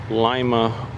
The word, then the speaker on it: Lima: Here at the Allen County Fairgrounds in Lima, Ohio. I got a attention on the ground. Remedial training on how to pronounce the Lima, not Lima, but Lima.